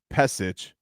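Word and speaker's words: Pešić: Svetislav Pesic. P-E-S with the little squiggly thing over it. I-C with the little thing. Chich.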